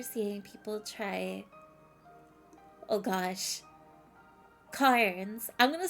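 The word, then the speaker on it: Cairns: Cars. I'm going to say cars. The eye is silent.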